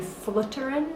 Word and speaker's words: Floteren: moment to talk about the X notes in Fullerton that's how you pronounce the name of this tune um so